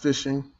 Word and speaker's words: phishing: you pronounce it p-h-i-s-h-i-n-g it's pronounced fishing the p is fishing like fill fish yeah phishing is the